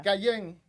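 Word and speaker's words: Kjær: y tú y tú aprendiste a pronunciar apellido de Victoria cayen cayen eso eso miré es así es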